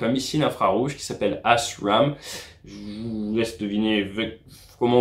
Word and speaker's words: ASRAAM: Parce que la prononciation de ce missile, c'est AS RAM.